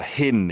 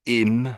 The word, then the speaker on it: hymn: here, a hymn, but you missed out the H, and you said im. It sounded too much like im. So you need to make your H's a little bit stronger at the front.